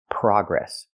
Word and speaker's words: progress: say the most progress the word is not pronounced PR progress It's pronounced progress in America we use the open a sound like hot and stop PR PR progress we don't use the long o like no and go progress in America we say